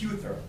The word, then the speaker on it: Huther: Next up, we have Hughes speaking on behalf of themselves. Apologies if I've mispronounced the last name. It's Huther.